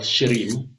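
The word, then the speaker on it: shrim: for attracting money is called shim It's s h r i m or s hrou e m that one is a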